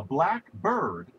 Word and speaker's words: blackbird: The accent is on the first syllable. So if you think about it, a black bird is some bird that's black, and presumably quite a few of them are.